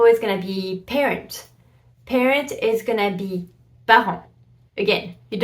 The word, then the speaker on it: parent: going to be parent parent is going to be again you don't pronounce the T and those are words